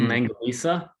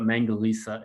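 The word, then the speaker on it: Mangalica: batch of they're called Mangalites? Well, so they're from the Austro-Hungarian Empire. So the correct pronunciation is like the C in Cyprus. So Mangalisa.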